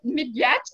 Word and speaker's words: Midyett: We're here today with a special guest, uh, Midyett. Is it "Mid-yet," Is that how you pronounce it?